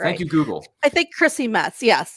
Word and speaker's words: Chrissy Metz: about i'm just trying to make sure i'm pronouncing her name is it christy metz or christy metz uh chrissy metz there we go i just checked it up